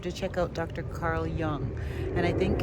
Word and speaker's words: Jung: Carl Jung. And I think it's spelled Young with a J-U-N-G, I think.